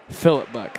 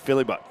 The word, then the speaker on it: Philip Buck: Sorry, Philly Buck. What do you want? Philip Buck. Philip Buck. Okay, I just want to make sure I say it right. You can call me Philly too. Philly Buck.